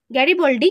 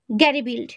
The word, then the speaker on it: গ্যারিবল্ডি: ওকে তারপরের প্রশ্ন জোসেফি গ্যারিবল্ডি কে ছিলেন জোসেফ গ্যারিবল্ডি ছিলেন ইটালির জাতীয়তাবাদী নেতা লাল কোর্তা বাহিনী কে গঠন করে এর উত্তর গ্যারিবিল্ড বা গ্যারিবিল্ড নয় গ্যারিবল্ডি ঠিক আছে আধুনিক ইটালির